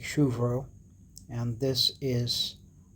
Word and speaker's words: Shubro: This is pronounced as Shru and Bro with a BH sound, so it's like more like Vro. So it's like Shuvro.